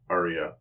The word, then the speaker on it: Arya: Now, do you pronounce it Arya or Arya? Arya.